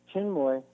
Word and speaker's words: Chinmoy: What is Sri Chinmoy? Is that it? Chinmoy, yeah, like Chin with a moy at the end.